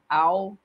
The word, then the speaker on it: algoritmos: Algoritmos. Algoritmos é uma palavra que é paroxítona. Professor, o que, que é uma palavra paroxítona? É quando a sílaba tônica é a penúltima.